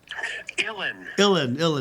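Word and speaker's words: Uilleann: How do you pronounce the Irish pipes? Illin.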